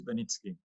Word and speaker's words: Beniczky: do we pronounce it beniski but i i used to respond to all kind of versions of my surname but correctly it's benitski okay cool cool so